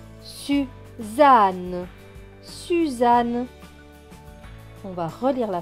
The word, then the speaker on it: Suzanne: Deux N qui se prononcent N et E, ne. Donc ce mot va se lire su, za, ne. Suzanne, Suzanne.